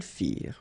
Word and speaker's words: firent: Ils firent, elles firent. Remember, ending ENT for the plural, you don't pronounce it.